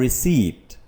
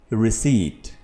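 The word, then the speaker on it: receipt: रसीद की इंग्लिश है रिसीप्ट, ना कि रिसीप्ट। इसमें पी नहीं बोला जाता। ठीक है, इसको कैसे प्रोनाउंस करेंगे, रिसीट।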